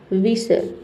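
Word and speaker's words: whistle: विसल।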